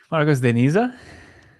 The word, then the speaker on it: Marcos de Niza: How do you pronounce that? Marcos de Niza?